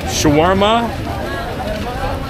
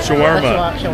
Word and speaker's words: shawarma: in ages so what do you guys say Sharma is that right am I saying that right guys Shawarma Sharm Shawarma that's the first time I pronounced it right